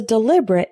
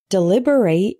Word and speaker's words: deliberate: For example, his comment wasn't a mistake, it was a deliberate insult. Deliberate is a verb, meaning to discuss or debate.